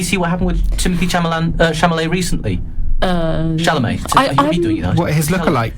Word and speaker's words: Chalamet: It's the Chalamet.